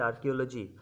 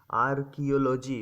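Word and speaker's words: archaeology: রিয়াম আর আই ইউ M okay next হচ্ছে আর্কিওলজি আর্কিওলজি বানানটা একরকম উচ্চারণটা একরকম এইজন্য এগুলোতে একটু কনফিউশন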